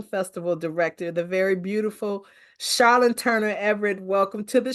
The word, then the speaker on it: Charlon: and I want to make sure that I'm pronouncing it right it is charlon right or is it it's actually charlon like Char charlon okay I knew I said